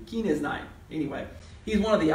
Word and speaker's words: Kenizzite: That's the best way I can pronounce it, all right. I think that's a long E there. Kenizzite.